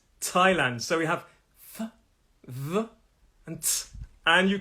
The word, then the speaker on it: Thailand: though and actually bonus bonus word in the country called thailand it's also a th but it is thailand so we have and